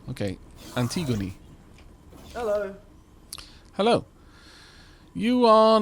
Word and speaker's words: Antigone: Oh, it's the E is pronounced as an E rather than making the word gone. Okay, Antigone.